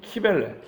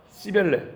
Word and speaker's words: 키벨레: 아도니스라고 들어보셨죠 아도니스하고 동방이 여신 키벨레 발음에 따라 씨벨레 이렇게 부르는데 그 신을 주신으로 섬기는